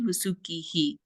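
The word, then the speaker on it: वासुकिः: It creates like an echo effect. So it'd be sagaraha. You add that the letter that precedes it, you pronounce it again afterwards. And then also like that vasuki, vasukihi. That's called visarga, Jayadev, I think.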